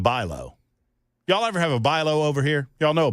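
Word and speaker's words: Bi-Lo: They don't spell it the way that it sounds.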